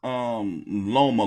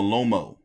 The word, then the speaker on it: Loma: By the way, what's up with Joe Tessitore keep calling Loma Lomo?